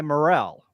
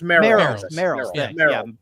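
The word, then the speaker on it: Merrell: by um they're by Morel no no no mer it's pronounced mer yeah I have smoke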